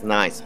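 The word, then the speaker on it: Nys: It is Dries, and the surname is Nyes. So Dries Nyes is his name.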